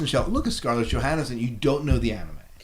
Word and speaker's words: Johansson: So this is Johansson. Sorry, Johansson and Johansson. I just threw an extra syllable, but so this, when you think about it, I mean, this is Black Widow.